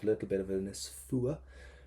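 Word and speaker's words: fuath: little bit of this fua do not pronounce the T fua so so it's I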